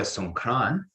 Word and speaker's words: Songkran: So Songkran is their pronunciation of Sankranti, which is like an astrological holiday, and it's about the same time as Easter.